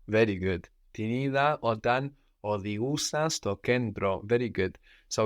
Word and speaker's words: οδηγούσα: But then for our open past, with our verbs with our accent on the end, like οδηγώ, we have ous. Ous. Οδηγούσα.